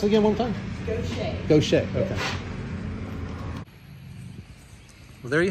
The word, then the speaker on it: Gautier: Gautier. Gautier? It's French.